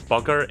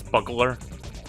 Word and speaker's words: Bugler: wrong by the way i thought his name was bugger it's buggler professor bugler or dr